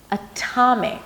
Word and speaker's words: atomic: flap T, it's actually a strong aspirated T with a little H after. Atomic. It has a little H. It's strong. I want to celebrate this T. It's at the beginning of a strong syllable.